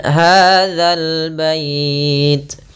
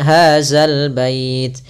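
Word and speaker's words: هذا البيت: Kemudian hadzal bait. Hati-hati dalam pelafalan za, jangan sampai dibaca dengan hazal bait. Sering terjadi kita mendengarkan huruf zal diganti dengan zai. Ini kurang tepat dan bahkan bisa merubah maknanya.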